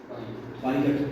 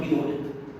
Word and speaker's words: pilot: अब PILOT, पायलट, व्हाई नॉट पिलोट, क्योंकि मात्राएं IO तो EO होगा ना, तो वो बहुत ही साफ।